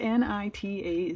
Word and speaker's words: Nita: Don't you think N-I-T-A is Nita? Like Juanita?